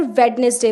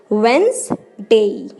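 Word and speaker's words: Wednesday: वेडनेसडे गलत pronunciation है और इसकी सही प्रोनाउंसिएशन क्या होगी, वेंसडे, डे, डे नहीं बोलते, डे, ई की साउंड थोड़ी सी लास्ट में आएगी, वेंसडे, वेंसडे।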